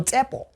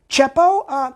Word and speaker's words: Tsepo: I know people whose names were Tsepo. Chepo? No, ma'am, it's Tsepo. Chepo. It's Tsepo, ma'am.